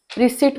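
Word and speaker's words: receipt: याचा उच्चार बोल होतो याचा उच्चार सावर असा होतो रिसट मध्ये पी सायलेंट आणि म्हणून उच्चार रिसीट असा होतो हॉटेलमध्ये गेल्यावर एम एनय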